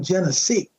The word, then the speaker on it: Genesis: Except they pronounced the name Genesee.